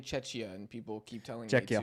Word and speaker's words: Czechia: That's how you say it, Czechia. I've been saying Czechia, and people keep telling Czechia.